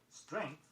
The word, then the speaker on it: strength: Be sure when you pronounce it that you get the nk sound in it. Length. Strength, S-T-R-E-N-G-T-H, also contains this sound.